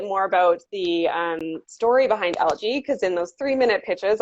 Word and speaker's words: Algi: That's ALGI, but pronounced Algi.